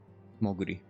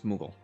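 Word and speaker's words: Moogle: times higher than Gladiator Moi no it's mugal oh I know I'm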